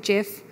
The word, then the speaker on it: GIF: lot of gifts so I guess that settles the age-old question of gif or Jif so it is official it is gift we call it gif the guy who invented the gift Steve while height he called it jiff maybe we can reach